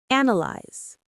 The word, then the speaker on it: analyze: There are three syllables with the stress right at the beginning. Let's say it together. Analyze.